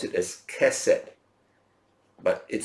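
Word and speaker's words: chesed: kind of I give you the word we pronounce it as Cosette but it spelled c-- h e s e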